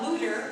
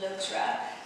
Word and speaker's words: Loutre: Loutre, which actually should be pronounced Loutre, which is French for the otter.